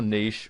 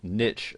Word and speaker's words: niche: need to decide what your niche or niche as some people pronounce it is going to